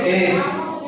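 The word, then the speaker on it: debt: अब इसमें कंप्लीट क्या है, बी हमारा साइलेंट है, क्योंकि टी के पहले क्या आ रहा है, बी आता है, तब क्या होगा, बी साइलेंट होता है, ठीक है। टी के पहले मिलेगा तब हमारा क्या होगा, बी साइलेंट होगा। तो हम इसको क्या पढ़ेंगे, डेट।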